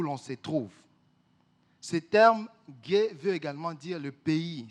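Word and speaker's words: γῆ: Alors, le mot grec utilisé qui est traduit dans ces textes par terre, ça va vous paraître peut-être bizarre, ça s'écrit G-E et ça se lit gay.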